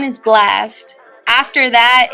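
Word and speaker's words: Blxst: It's spelled differently. It's not spelled like. It's okay. It's like with a dollar sign, right? BLX. Yep. ST. Yep. Hey, Coach, sing that song. Sing your favorite Blast song for us.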